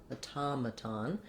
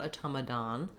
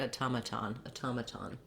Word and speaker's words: automaton: So instead of the stress being mad, we have automaton. And then again, we have secondary stress, I'd say, here on the ton syllable because we have vowel ah, and again another T. Not automaton, but automaton. So we do true T's for both T's in this word.